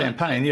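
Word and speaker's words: Champaign: Illinois obana champagne uh if I hope I'm pronouncing that correctly uh champagne I think you got that right yeah it's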